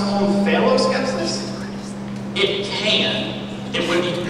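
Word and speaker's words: omphaloskepsis: Can that also be pronounced on phalloscepsis? It can. It would be wrong. On phalloscepsis. O-M-P-H-A-L-O-S-K-E-P-S-I-S. On phalloscepsis.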